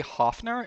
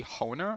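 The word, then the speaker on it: Hoehner: I say Hofner. It's supposed to be Honer, I think is how you pronounce it. I don't know where I got that F from.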